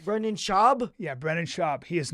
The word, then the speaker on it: Schaub: was Venezuelan where's Brandon Schwab from it's shab you have to say his name right Brenan shab yeah Brenan shab he